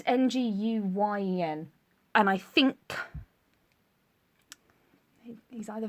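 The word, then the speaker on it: Nguyen: name from BoJack Horseman and they pronounced that n it's ngu Yen and I think he's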